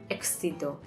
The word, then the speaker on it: éxito: Y aquí concluye esta lección, de la que podemos concluir que: La "x" es la única letra compuesta por dos sonidos: "k" más "s". "Éxito".